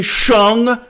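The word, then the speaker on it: Hsiung: Oh, Wayne Xiong does all the same shit. Wayne Shung, as he pronounced his name, when he's a leader of, what's it fucking called?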